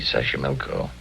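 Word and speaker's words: Xochimilco: City Taxco pbla sash sashco okay so you pronounce it better than I do it's easy sash milco that's where the streets are paved with flowers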